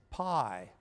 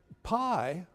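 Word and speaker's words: π: Now that P is called for this purpose pi. Pi is the Greek version of P. In fact, in Greek, you pronounce it P, not pi, right?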